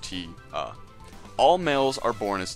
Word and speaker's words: Tia: For a male seeker of the sun, there are only two positions available: breeding males, pronounced noon, and all others, the Tia, pronounced T-A.